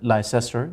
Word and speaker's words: Leicester: for example london multan leicester l i c e s t o r people might pronounce it lyster that is leicester france it may include